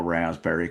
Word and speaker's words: raspberry: The P pisses me off. Yeah, as it should. It doesn't belong there. Unnecessary. I don't think any time in its etmology did anybody pronounce the P.